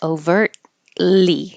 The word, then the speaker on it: overtly: we started with overtly you won't hear the T because your tongue goes to the T position overtly and you hold it there and make the L without moving it overtly overtly that sounds